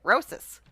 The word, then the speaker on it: Rosas: more than him Rosas how does he say it roses roses no no he plays